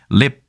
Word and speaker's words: 𨋢: tnt라고 하는데 이렇게 써놓고 이건 leap이라고 읽는 거예요 상당히 재밌죠 왜냐면 훨씬 더 발음이 편하죠 lift에 한 발음 이름절 단어인 lip 이렇게 얘기하면 되니까요이 글자하고 전제라는 표시를